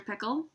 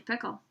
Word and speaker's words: Pickle: pickle actually his name was dr. pickle with the accent on the second syllable but that wasn't why everyone called him dr. pickle dr.